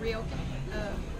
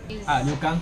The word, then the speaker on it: ryokan: How do you say Ryokan? Ryokan.